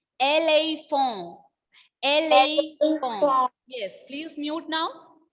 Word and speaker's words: éléphant: In the pronunciation of this word in French is éléphant.